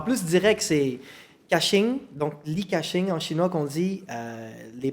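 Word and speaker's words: Li Ka-shing: En plus, direct, c'est Caching, donc Li Caching en chinois qu'on dit. Les parents donc qui ont donné ce nom-là, au côté chinois, ça se prononce Li Ka-sing.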